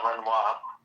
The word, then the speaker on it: Renoir: It's pronounced Renoir.